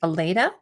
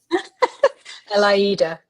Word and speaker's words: Elaida: the next grouping we have here, if it's okay, Aleda. Did you want to Elaida, talk about it? Yeah. Sorry, how do you say it properly? Elaida. Alaida, my apologies.